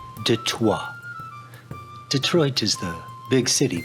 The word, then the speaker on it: Detroit: detroit no no not detroit yes i know what the sign says but it's pronounced de toi detroit is the big